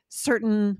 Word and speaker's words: certain: You see the T and you think I should be pronouncing this hard T here, but for a lot of words, you don't hear it at all.